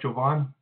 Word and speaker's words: Jovan: So we're going to move on to Jovan. I hope I'm pronouncing your name correctly. Yeah, hello? Hi, did I say your name right? Yeah, that's right, Jovan. Jovan, welcome. My name is Jovan.